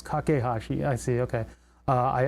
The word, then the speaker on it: Kakehashi: This is made when Ikotaro kakahashi kakehashi kakehashi is is that kakahashi? No, it's kakehashi.